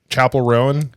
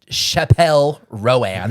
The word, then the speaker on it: Chappell Roan: So, on the way back from the Bill Murray concert, um Jim had some uh how do you say her name? Chapel Rowan. Chapel Rowan. Yep. Playing. Not Chappelle Rowan.